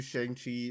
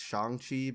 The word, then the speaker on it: Shang-Chi: are trying to do shang chi like uh poses also i'm pronouncing it wrong it's shangqi but who gives a